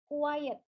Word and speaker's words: quiet: Sementara kalau misalnya diam atau hening itu quiet.